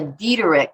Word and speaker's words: Diederich: pronounce your last name how do you pronounce that it's a dietary and that's how you could find me it's like died rich with the e in the middle so ellen dean beatrix